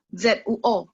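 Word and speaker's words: 坐: Z-U-O, zuo.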